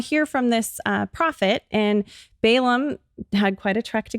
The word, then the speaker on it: Balaam: If you're wondering how to pronounce it, it's Balaam.